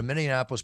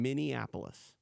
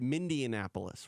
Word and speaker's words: Minneapolis: it one more time Minneapolis Minneapolis am I saying it wrong yeah you said you said Indianapolis which is what people do all the time wait let